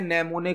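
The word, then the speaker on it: mnemonic: उसे किया जाते हैं नमूने कोड नमूने कोड आपसे क्वेश्चन पूछा जा सकता है की नमूने कोड का उसे किस लैंग्वेज में किया जाता है यहां पर एम साइलेंट होता है नमो ने कोड का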